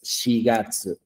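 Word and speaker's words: 四月: No es yon, tampoco yo, sino tiene que ser shigatsu.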